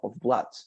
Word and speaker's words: blood: one's bessel i'm blocked don't pay attention to this because maybe you're tempted to pronounce like loot right because uh duos right